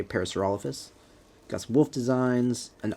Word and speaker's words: Parasaurolophus: fox riding a Paris Parasaurolophus or parasolarosis however you pronounce that I say Parasaurolophus got some wolf designs